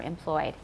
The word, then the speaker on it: employed: A lot of you wrote 3 syllables for employed, and it's just 2.